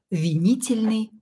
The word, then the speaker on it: винительный: Винительный. Ударение на букву И.